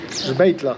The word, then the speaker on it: Sbeitla: Sbetla, non me lo ricordo.